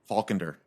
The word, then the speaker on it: Faulkender: faulk how do you say your name again faulkender okay uh was that correct that 21 percent